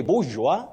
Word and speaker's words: bourgeois: Danish Ondieki, I'm saying Danish the way the name is spelled Betty. Okay. It's Danish in this case. Okay. Ondieki, you say bourgeois and ma.